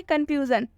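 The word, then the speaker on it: confusion: और एक्सेप्शन देखिए कंफ्यूजन कंफ्यूजन में भी ये जो एस है एस के बाद से क्या आया हुआ है आई ओ एन और जब भी एस के बाद आईओ एन आएगा तो एस तलाब श से पढ़ेंगे लेकिन ये एक्सेप्शन है इसलिए यहां पर एस को ज से पढ़ा जा रहा है कंफ्यूजन कंफ्यूजन का मतलब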